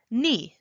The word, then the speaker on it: 니: When I was first learning Korean, I was thinking, why is it spelled like ne, but it said like ni?